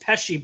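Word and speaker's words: Pesce: you know Frank PES it sounds like it's almost peshy but it's spelled with a an e instead of an I like Joe peshi he passed away just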